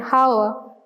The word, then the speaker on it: hour: For words such as honor, honest and hour, where the H is silent when we are pronouncing these words, we use an.